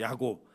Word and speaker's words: 야곱: 그러니까 이 야고보를 헬라식으로 발음하면 야고보인데 히브리식으로 발음하면 뭘까요? 비슷한 이름, 구약의 야곱이에요. 야곱. 예, 히브리식 이름인 야곱을 헬라식으로 바꾸면 야고보입니다.